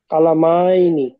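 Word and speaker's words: كلامين: কালামাইনি। এবার আর টান, কালামাইনি। এবার আর টান হবে না, বলেন।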